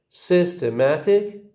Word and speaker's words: systematic: So the first syllable begins with a secondary stress, and the third with a primary stress.